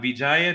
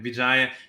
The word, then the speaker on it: Vijaya: with us and uh Vijaya did I pronounce that correct yes okay Vijaya can you introduce yourself